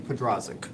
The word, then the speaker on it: Pedrazic: Pedrazic. Oh, like it's exactly the way it's written.